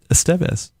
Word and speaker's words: Estevez: I was watching the Charlie Sheen documentary on Netflix, and he was talking about his family, which includes Emilio, and he pronounced it Estevez.